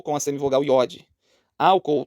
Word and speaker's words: álcool: com a semivogal yod álcool temos iato separam-se esse o álcool álcool os dois os têm força os dois os têm